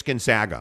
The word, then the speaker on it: Gonzaga: And you'll say it right. It's Gonzaga. Gonzaga.